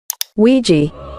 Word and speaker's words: Ouija: It may seem unrelated, but I've asked a data analytics expert to give us the proper pronunciation of this word. Ouija.